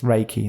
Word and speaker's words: Reiki: that'd be one of our questions how to pronounce it there's a little teaser preview there there's in there to show you it's Reiki there we go there's a spoiler for later